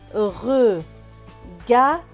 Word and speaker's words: regard: Et le D à la fin ne se prononce pas puisqu'il est écrit en bleu. Donc ce mot va se lire regard.